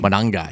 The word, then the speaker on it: Monangai: Manungai. Manangai. Yep. Manangai. You have to say it like that. Kyle Monangai getting the start.